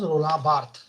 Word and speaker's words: Roland Barthes: a very crucial role he's a french person so that's why i'm pronouncing it as his name is not